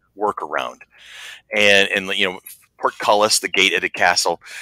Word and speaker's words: portcullis: He would call it porculus, and it just stuck in my brain. You know what? For the longest time, I couldn't even pronounce it because of that.